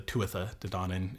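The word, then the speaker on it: Tuatha Dé Danann: takers, who are the Tuatha De Danann, or the Tuatha De Danann in the Old Irish pronunciation, who we brought up in our last episode.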